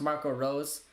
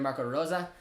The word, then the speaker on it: Marco Rose: i asked because like in north america his name's pronounced marco rose but a lot of other places around the world i hear marco rosa so i don't have